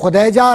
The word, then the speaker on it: خدیجہ: نام تھا حضرت خدیجہ, اور صحیح لفظ تلفظ ہے خدیجہ رضی اللہ تعالیٰ عنہ, ٹھیک ہے.